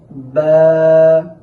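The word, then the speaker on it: باء: যেমন আলিফ আলিফ বা বা বা হরফটি উচ্চারণের সময় দুই ঠোঁটের ভেজা অংশ থেকে উচ্চারণ করতে হবে।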